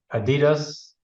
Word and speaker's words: Adidas: You say, yeah, everything I've heard they say Adidas. I've never said it as Adidas. It's a German brand. And that's how they say it. Yeah, I always learned it as a little kid as Adidas, but I guess I learned it wrong.